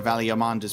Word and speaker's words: Valigarmanda: One does not stroll freely into Valigarmanda's prison, it seems. It is a hard G. Valigarmanda, so I was correct the first time?